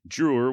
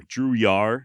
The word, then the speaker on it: Drouillard: It is French, spelled Drouillard, and apparently the D is silent. I went back and forth on whether to use Drewer or Drouillard, so you may end